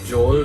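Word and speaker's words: jhol: chocolate so it's basically pork momos was a joel type of dish it's spelled j-h-o-l it's that it's kind of a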